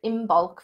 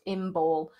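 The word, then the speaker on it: Imbolc: and pronounce it properly I've been calling in bulk for ages but I think it's pronounced Inbal so do correct me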